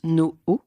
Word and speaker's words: No': Vous êtes architecte et ingénieur Polytechnique Lespont à la tête de l'agence no. On le prononce ainsi tout à fait basé à Paris dans le 11e arrondissement.